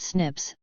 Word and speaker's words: SNPs: satellites single nucleotide polymorphisms or or snps pronounced Snips are particular points where